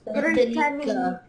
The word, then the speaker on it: Britannique: Yeah, everyone say Britannique, please. Britannique. That's it. And there's like a K sound at the end with the Q-U-E.